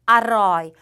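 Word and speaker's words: อร่อย: 요것도 중자음의 성조 규칙을 따라서 일성이니까 그대로 일성으로 해주셔서 아로이 요렇게 발음을 해주셔야 된다는 거예요.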